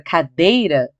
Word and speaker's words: cadeira: Mas, quando ela não for acentuada, por exemplo, a palavra cadeira, chama a cadeira, alto no portão. Cadeira! Cadeira! Você sabe que é o dei. Então, é a penúltima sílaba mais forte.